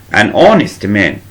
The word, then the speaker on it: honest: an apple, an idea, an honest man. الإيش بننطقهاش بسمها silent H or mute H وبنطق من أول الأو والأو صوت vowel فبقول معاه an honest man, an idea, an apple, and so on.